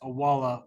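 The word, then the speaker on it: Owala: We've got the Awala, it's pronounced Awala water bottle, Thank you, and you'll be able to choose Ken color.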